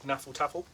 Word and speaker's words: hnefatafl: So it's called Knaffle Taffle. Knaffle Taffle. Knaffle Taffle. How do you spell that?